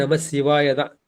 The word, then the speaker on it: நமசிவாய: அங்க நம்ம வடமொழில எப்படி சொல்லுவோம் ஓம் நமசிவாய நம்ம நம்ம சிவாய நம்ம சொல்லக்கூடாது. அங்கேயும் நமசிவாயதான். நம்ம தமிழ்ல சிங்கிற எழுத்துதான் போடுவோம். ஆனா உச்சரிக்கும் போது சிவாய அந்த வடமொழி உச்சரிப்பதான் அங்க வேணும். ஓம் நமசிவாய என்ற அந்த சிகாரத்தை வந்து நம்ம சொல்லணும்.